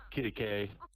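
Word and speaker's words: Quitaque: Kittikay.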